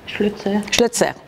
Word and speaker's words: Schlözer: C'est comme ça qu'on prononce ? Schlözer, à l'allemande.